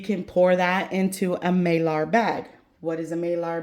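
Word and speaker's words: Mylar: pour that into a Marar bag. What is a Marar bag you ask? And I'm probably saying it wrong. Myar. It could be myar and I'm saying Mar is probably myar.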